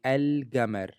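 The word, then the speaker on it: القمر: So it is always pronounced clearly without assimilation. For example, the word for the moon in Sudanese Arabic is al-gamar. Al-gamar, the moon. Al-gamar. And you can clearly see that the L stayed and didn't change into the moon letter.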